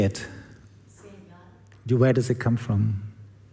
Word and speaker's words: Sehgal: Sehgal. Where does it come from? Middle East. Punjab. Sehgal.